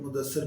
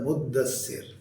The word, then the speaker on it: مدثر: بعد صورت ہے المدثر۔ یہ بھی اس کا تلفظ بھی عام طور پر لوگ مدثر پڑھتے ہیں، اور لوگوں کے نام بھی مدثر ہوتے ہیں۔ اصل میں لفظ ہے مدثر، اور تو یہ بھی